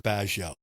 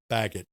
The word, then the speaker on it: Baggott: Man who spent 30 years calling me Mr. Bio. He just would never say my name Bagot correctly. You always Frenched it up a little bit.